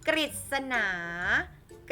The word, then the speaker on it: กฤษณา: เสียง ริ นะ คะ กฤษณา กฤษณา ก็ จะ เป็น เสียง ริ ค่ะ ริบ ฤทธิ์ อัน